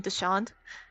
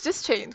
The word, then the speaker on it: Dischained: I've been saying Deshand. Dischained? It's Dischained.